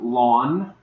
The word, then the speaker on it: ln: logarithm which is Ln it's pronounced lawn as in like your front lawn um and basically it's